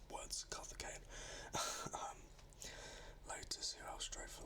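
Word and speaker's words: Karthikeyan: HRT, that was Carthagena. I actually pronounced the name right. Words, Carthagena.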